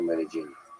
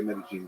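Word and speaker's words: Medellín: Medellin or Medellin? Both are fine. I think they say Medellin because that's kind of the accent is the just on the double L.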